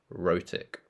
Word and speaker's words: rhotic: So we can use the phrase, British English is non-rhotic, and Indian and American English is rhotic. Sounds like roti. Rhotic.